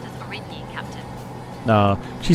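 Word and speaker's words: Aurigny: The airline is pronounced as Origny, Captain.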